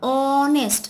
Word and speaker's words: honest: Now, then next is he is an honest. See O, we are pronouncing like O. But H is silent over here.